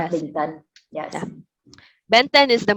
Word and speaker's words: Bình Tân: Bình Tân.